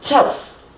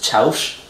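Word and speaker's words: chiaus: This one has a weird thing of having an alternate pronunciation that's Chaus, which they usually won't give you because it's just confusing. And that's one of the things, the S can sometimes be pronounced with a sh sound, but chaps. The tricky part about this is the ow sound is an I-A-U.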